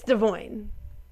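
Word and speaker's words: Devoin: Well, anyway, Nessa literally goes, so do you want us to call you Devoyne or Devon? How do you pronounce it? He's like, it's Devoyne.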